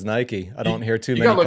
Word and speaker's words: Nike: You call it Nike. That's how that's how the Brits uh pronounce it. Nike. Yeah. Versus Nike.